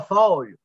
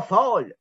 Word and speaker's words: Fall: Et Fall, qui s'écrit comme automne en anglais, là, F-A-L-L, la plupart des gens au Québec vont dire Ibrahima Fall. C'est pas Fall, hein, c'est Fall. Alors, on le prononce à la française.